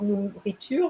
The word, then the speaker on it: nourriture: You miss the R of nourriture. 3 R's in nourriture.